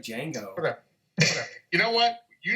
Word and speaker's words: Django: The action isn't part of Janet's The D is silent, man. It's like Django.